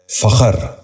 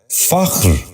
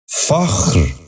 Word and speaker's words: فخر: فحش۔ 10واں لفظ ہے فخر۔ یہ غلط تلفظ ہے، درست تلفظ ہے فخر۔ دوبارہ سنیے، فخر۔ بچوں آپ بھی غور